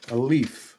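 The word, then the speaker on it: עלה: And the Hebrew word for a leaf, like a leaf on a tree, is ale. Ale, spelled with an ayin, lamed, and a hey.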